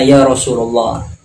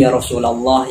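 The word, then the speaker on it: يا رسول الله: sampaikan kan dia baca yarosululoh kan ini kan gak bener carasunda Sofiana Pondok ngertilah Kalau yang seperti ini yang benar itu bukan yarosululoh tapi Ya Rasulallah yang bener dan kadang bisa tuh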